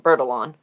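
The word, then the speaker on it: Bertillon: send her to alphonse bertallon the creator of the and here in america i think we would pronounce it bird along which we've talked about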